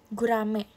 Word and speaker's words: gurame: Bacanya gurame atau gurami. Iat itu menurut kepercayaan masing-masing juga. Iya ya, Guys. Yang benar gurame atau gurami? Gurame. Gurame. Eh, Kak, kamu nulis apa bedanya, Kak?